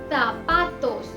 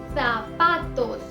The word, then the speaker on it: zapatos: कुछ जगहों पर इसे स प्रोनाउंस किया जाता है तो कुछ जगहों पर इसे त प्रोनाउंस किया जाता है, जैसे तोर्रो या फिर सोर्रो या zapatos, zapatos या फिर zapatos, zapatos।